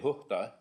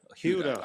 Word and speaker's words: Huhta: I'm not gonna murder your last name, so Well, if you're Finnish, you'd say Huhta. I'm not a Finlander, so. If you're English, you say Huda. How do you prefer we pronounce it? Doesn't matter. Huta? Huda. Huda.